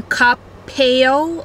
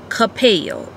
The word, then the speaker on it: Coppell: So this is out in Coppell.